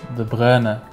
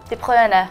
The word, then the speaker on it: De Bruyne: if I somehow still manage to butcher the pronunciation, I'm really sorry. Oh, and by the way, Kevin? He's called... De Bruyne. De Bruyne.